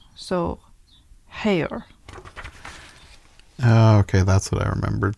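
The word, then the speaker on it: Haigha: is it looks like hyga he pronounced it so as to rhyme with mayor so hair okay that's what I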